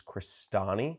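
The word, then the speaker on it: Crestani: click search for my last name which is crostini I'll spell that out free CR est a and I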